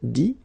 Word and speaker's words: dit: IRE here, IT, but then phonetically it's I as well because you don't pronounce the final T, okay? Écrire, écrit. IRE, IT, same group. Dire, dit, okay?